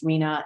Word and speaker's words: RHNA: That's our RHNA, which is pronounced Rena.